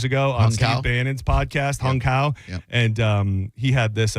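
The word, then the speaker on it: Hung Cao: I believe his name is Hung Kao. What? He's like he's an Asian guy. What's his name? He's the new acting Navy secretary that's taking over. His name is Hung Kao.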